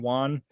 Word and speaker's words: Wan: 19th 24 2019 James win clarified let's say it right Wan Juan Juan Juan clarified the film is